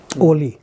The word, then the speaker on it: ollie: It's called an ollie. Oli. Yeah. Ollie. So How do you spell that?